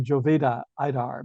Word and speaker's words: Jovita Idar: idar somebody might say Jovita idar but I think it's pronounced uh J as H and I as e in Spanish somebody correct me if